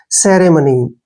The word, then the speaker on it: ceremony: सी का उच्चारण हम से करेंगे ऐसे, RE को रे पढ़ेंगे, सेरे, क्या हो गया? सेरे। MO का उच्चारण मैं होगा और N का उच्चारण न और Y को बड़ी की मात्रा, ऐसे।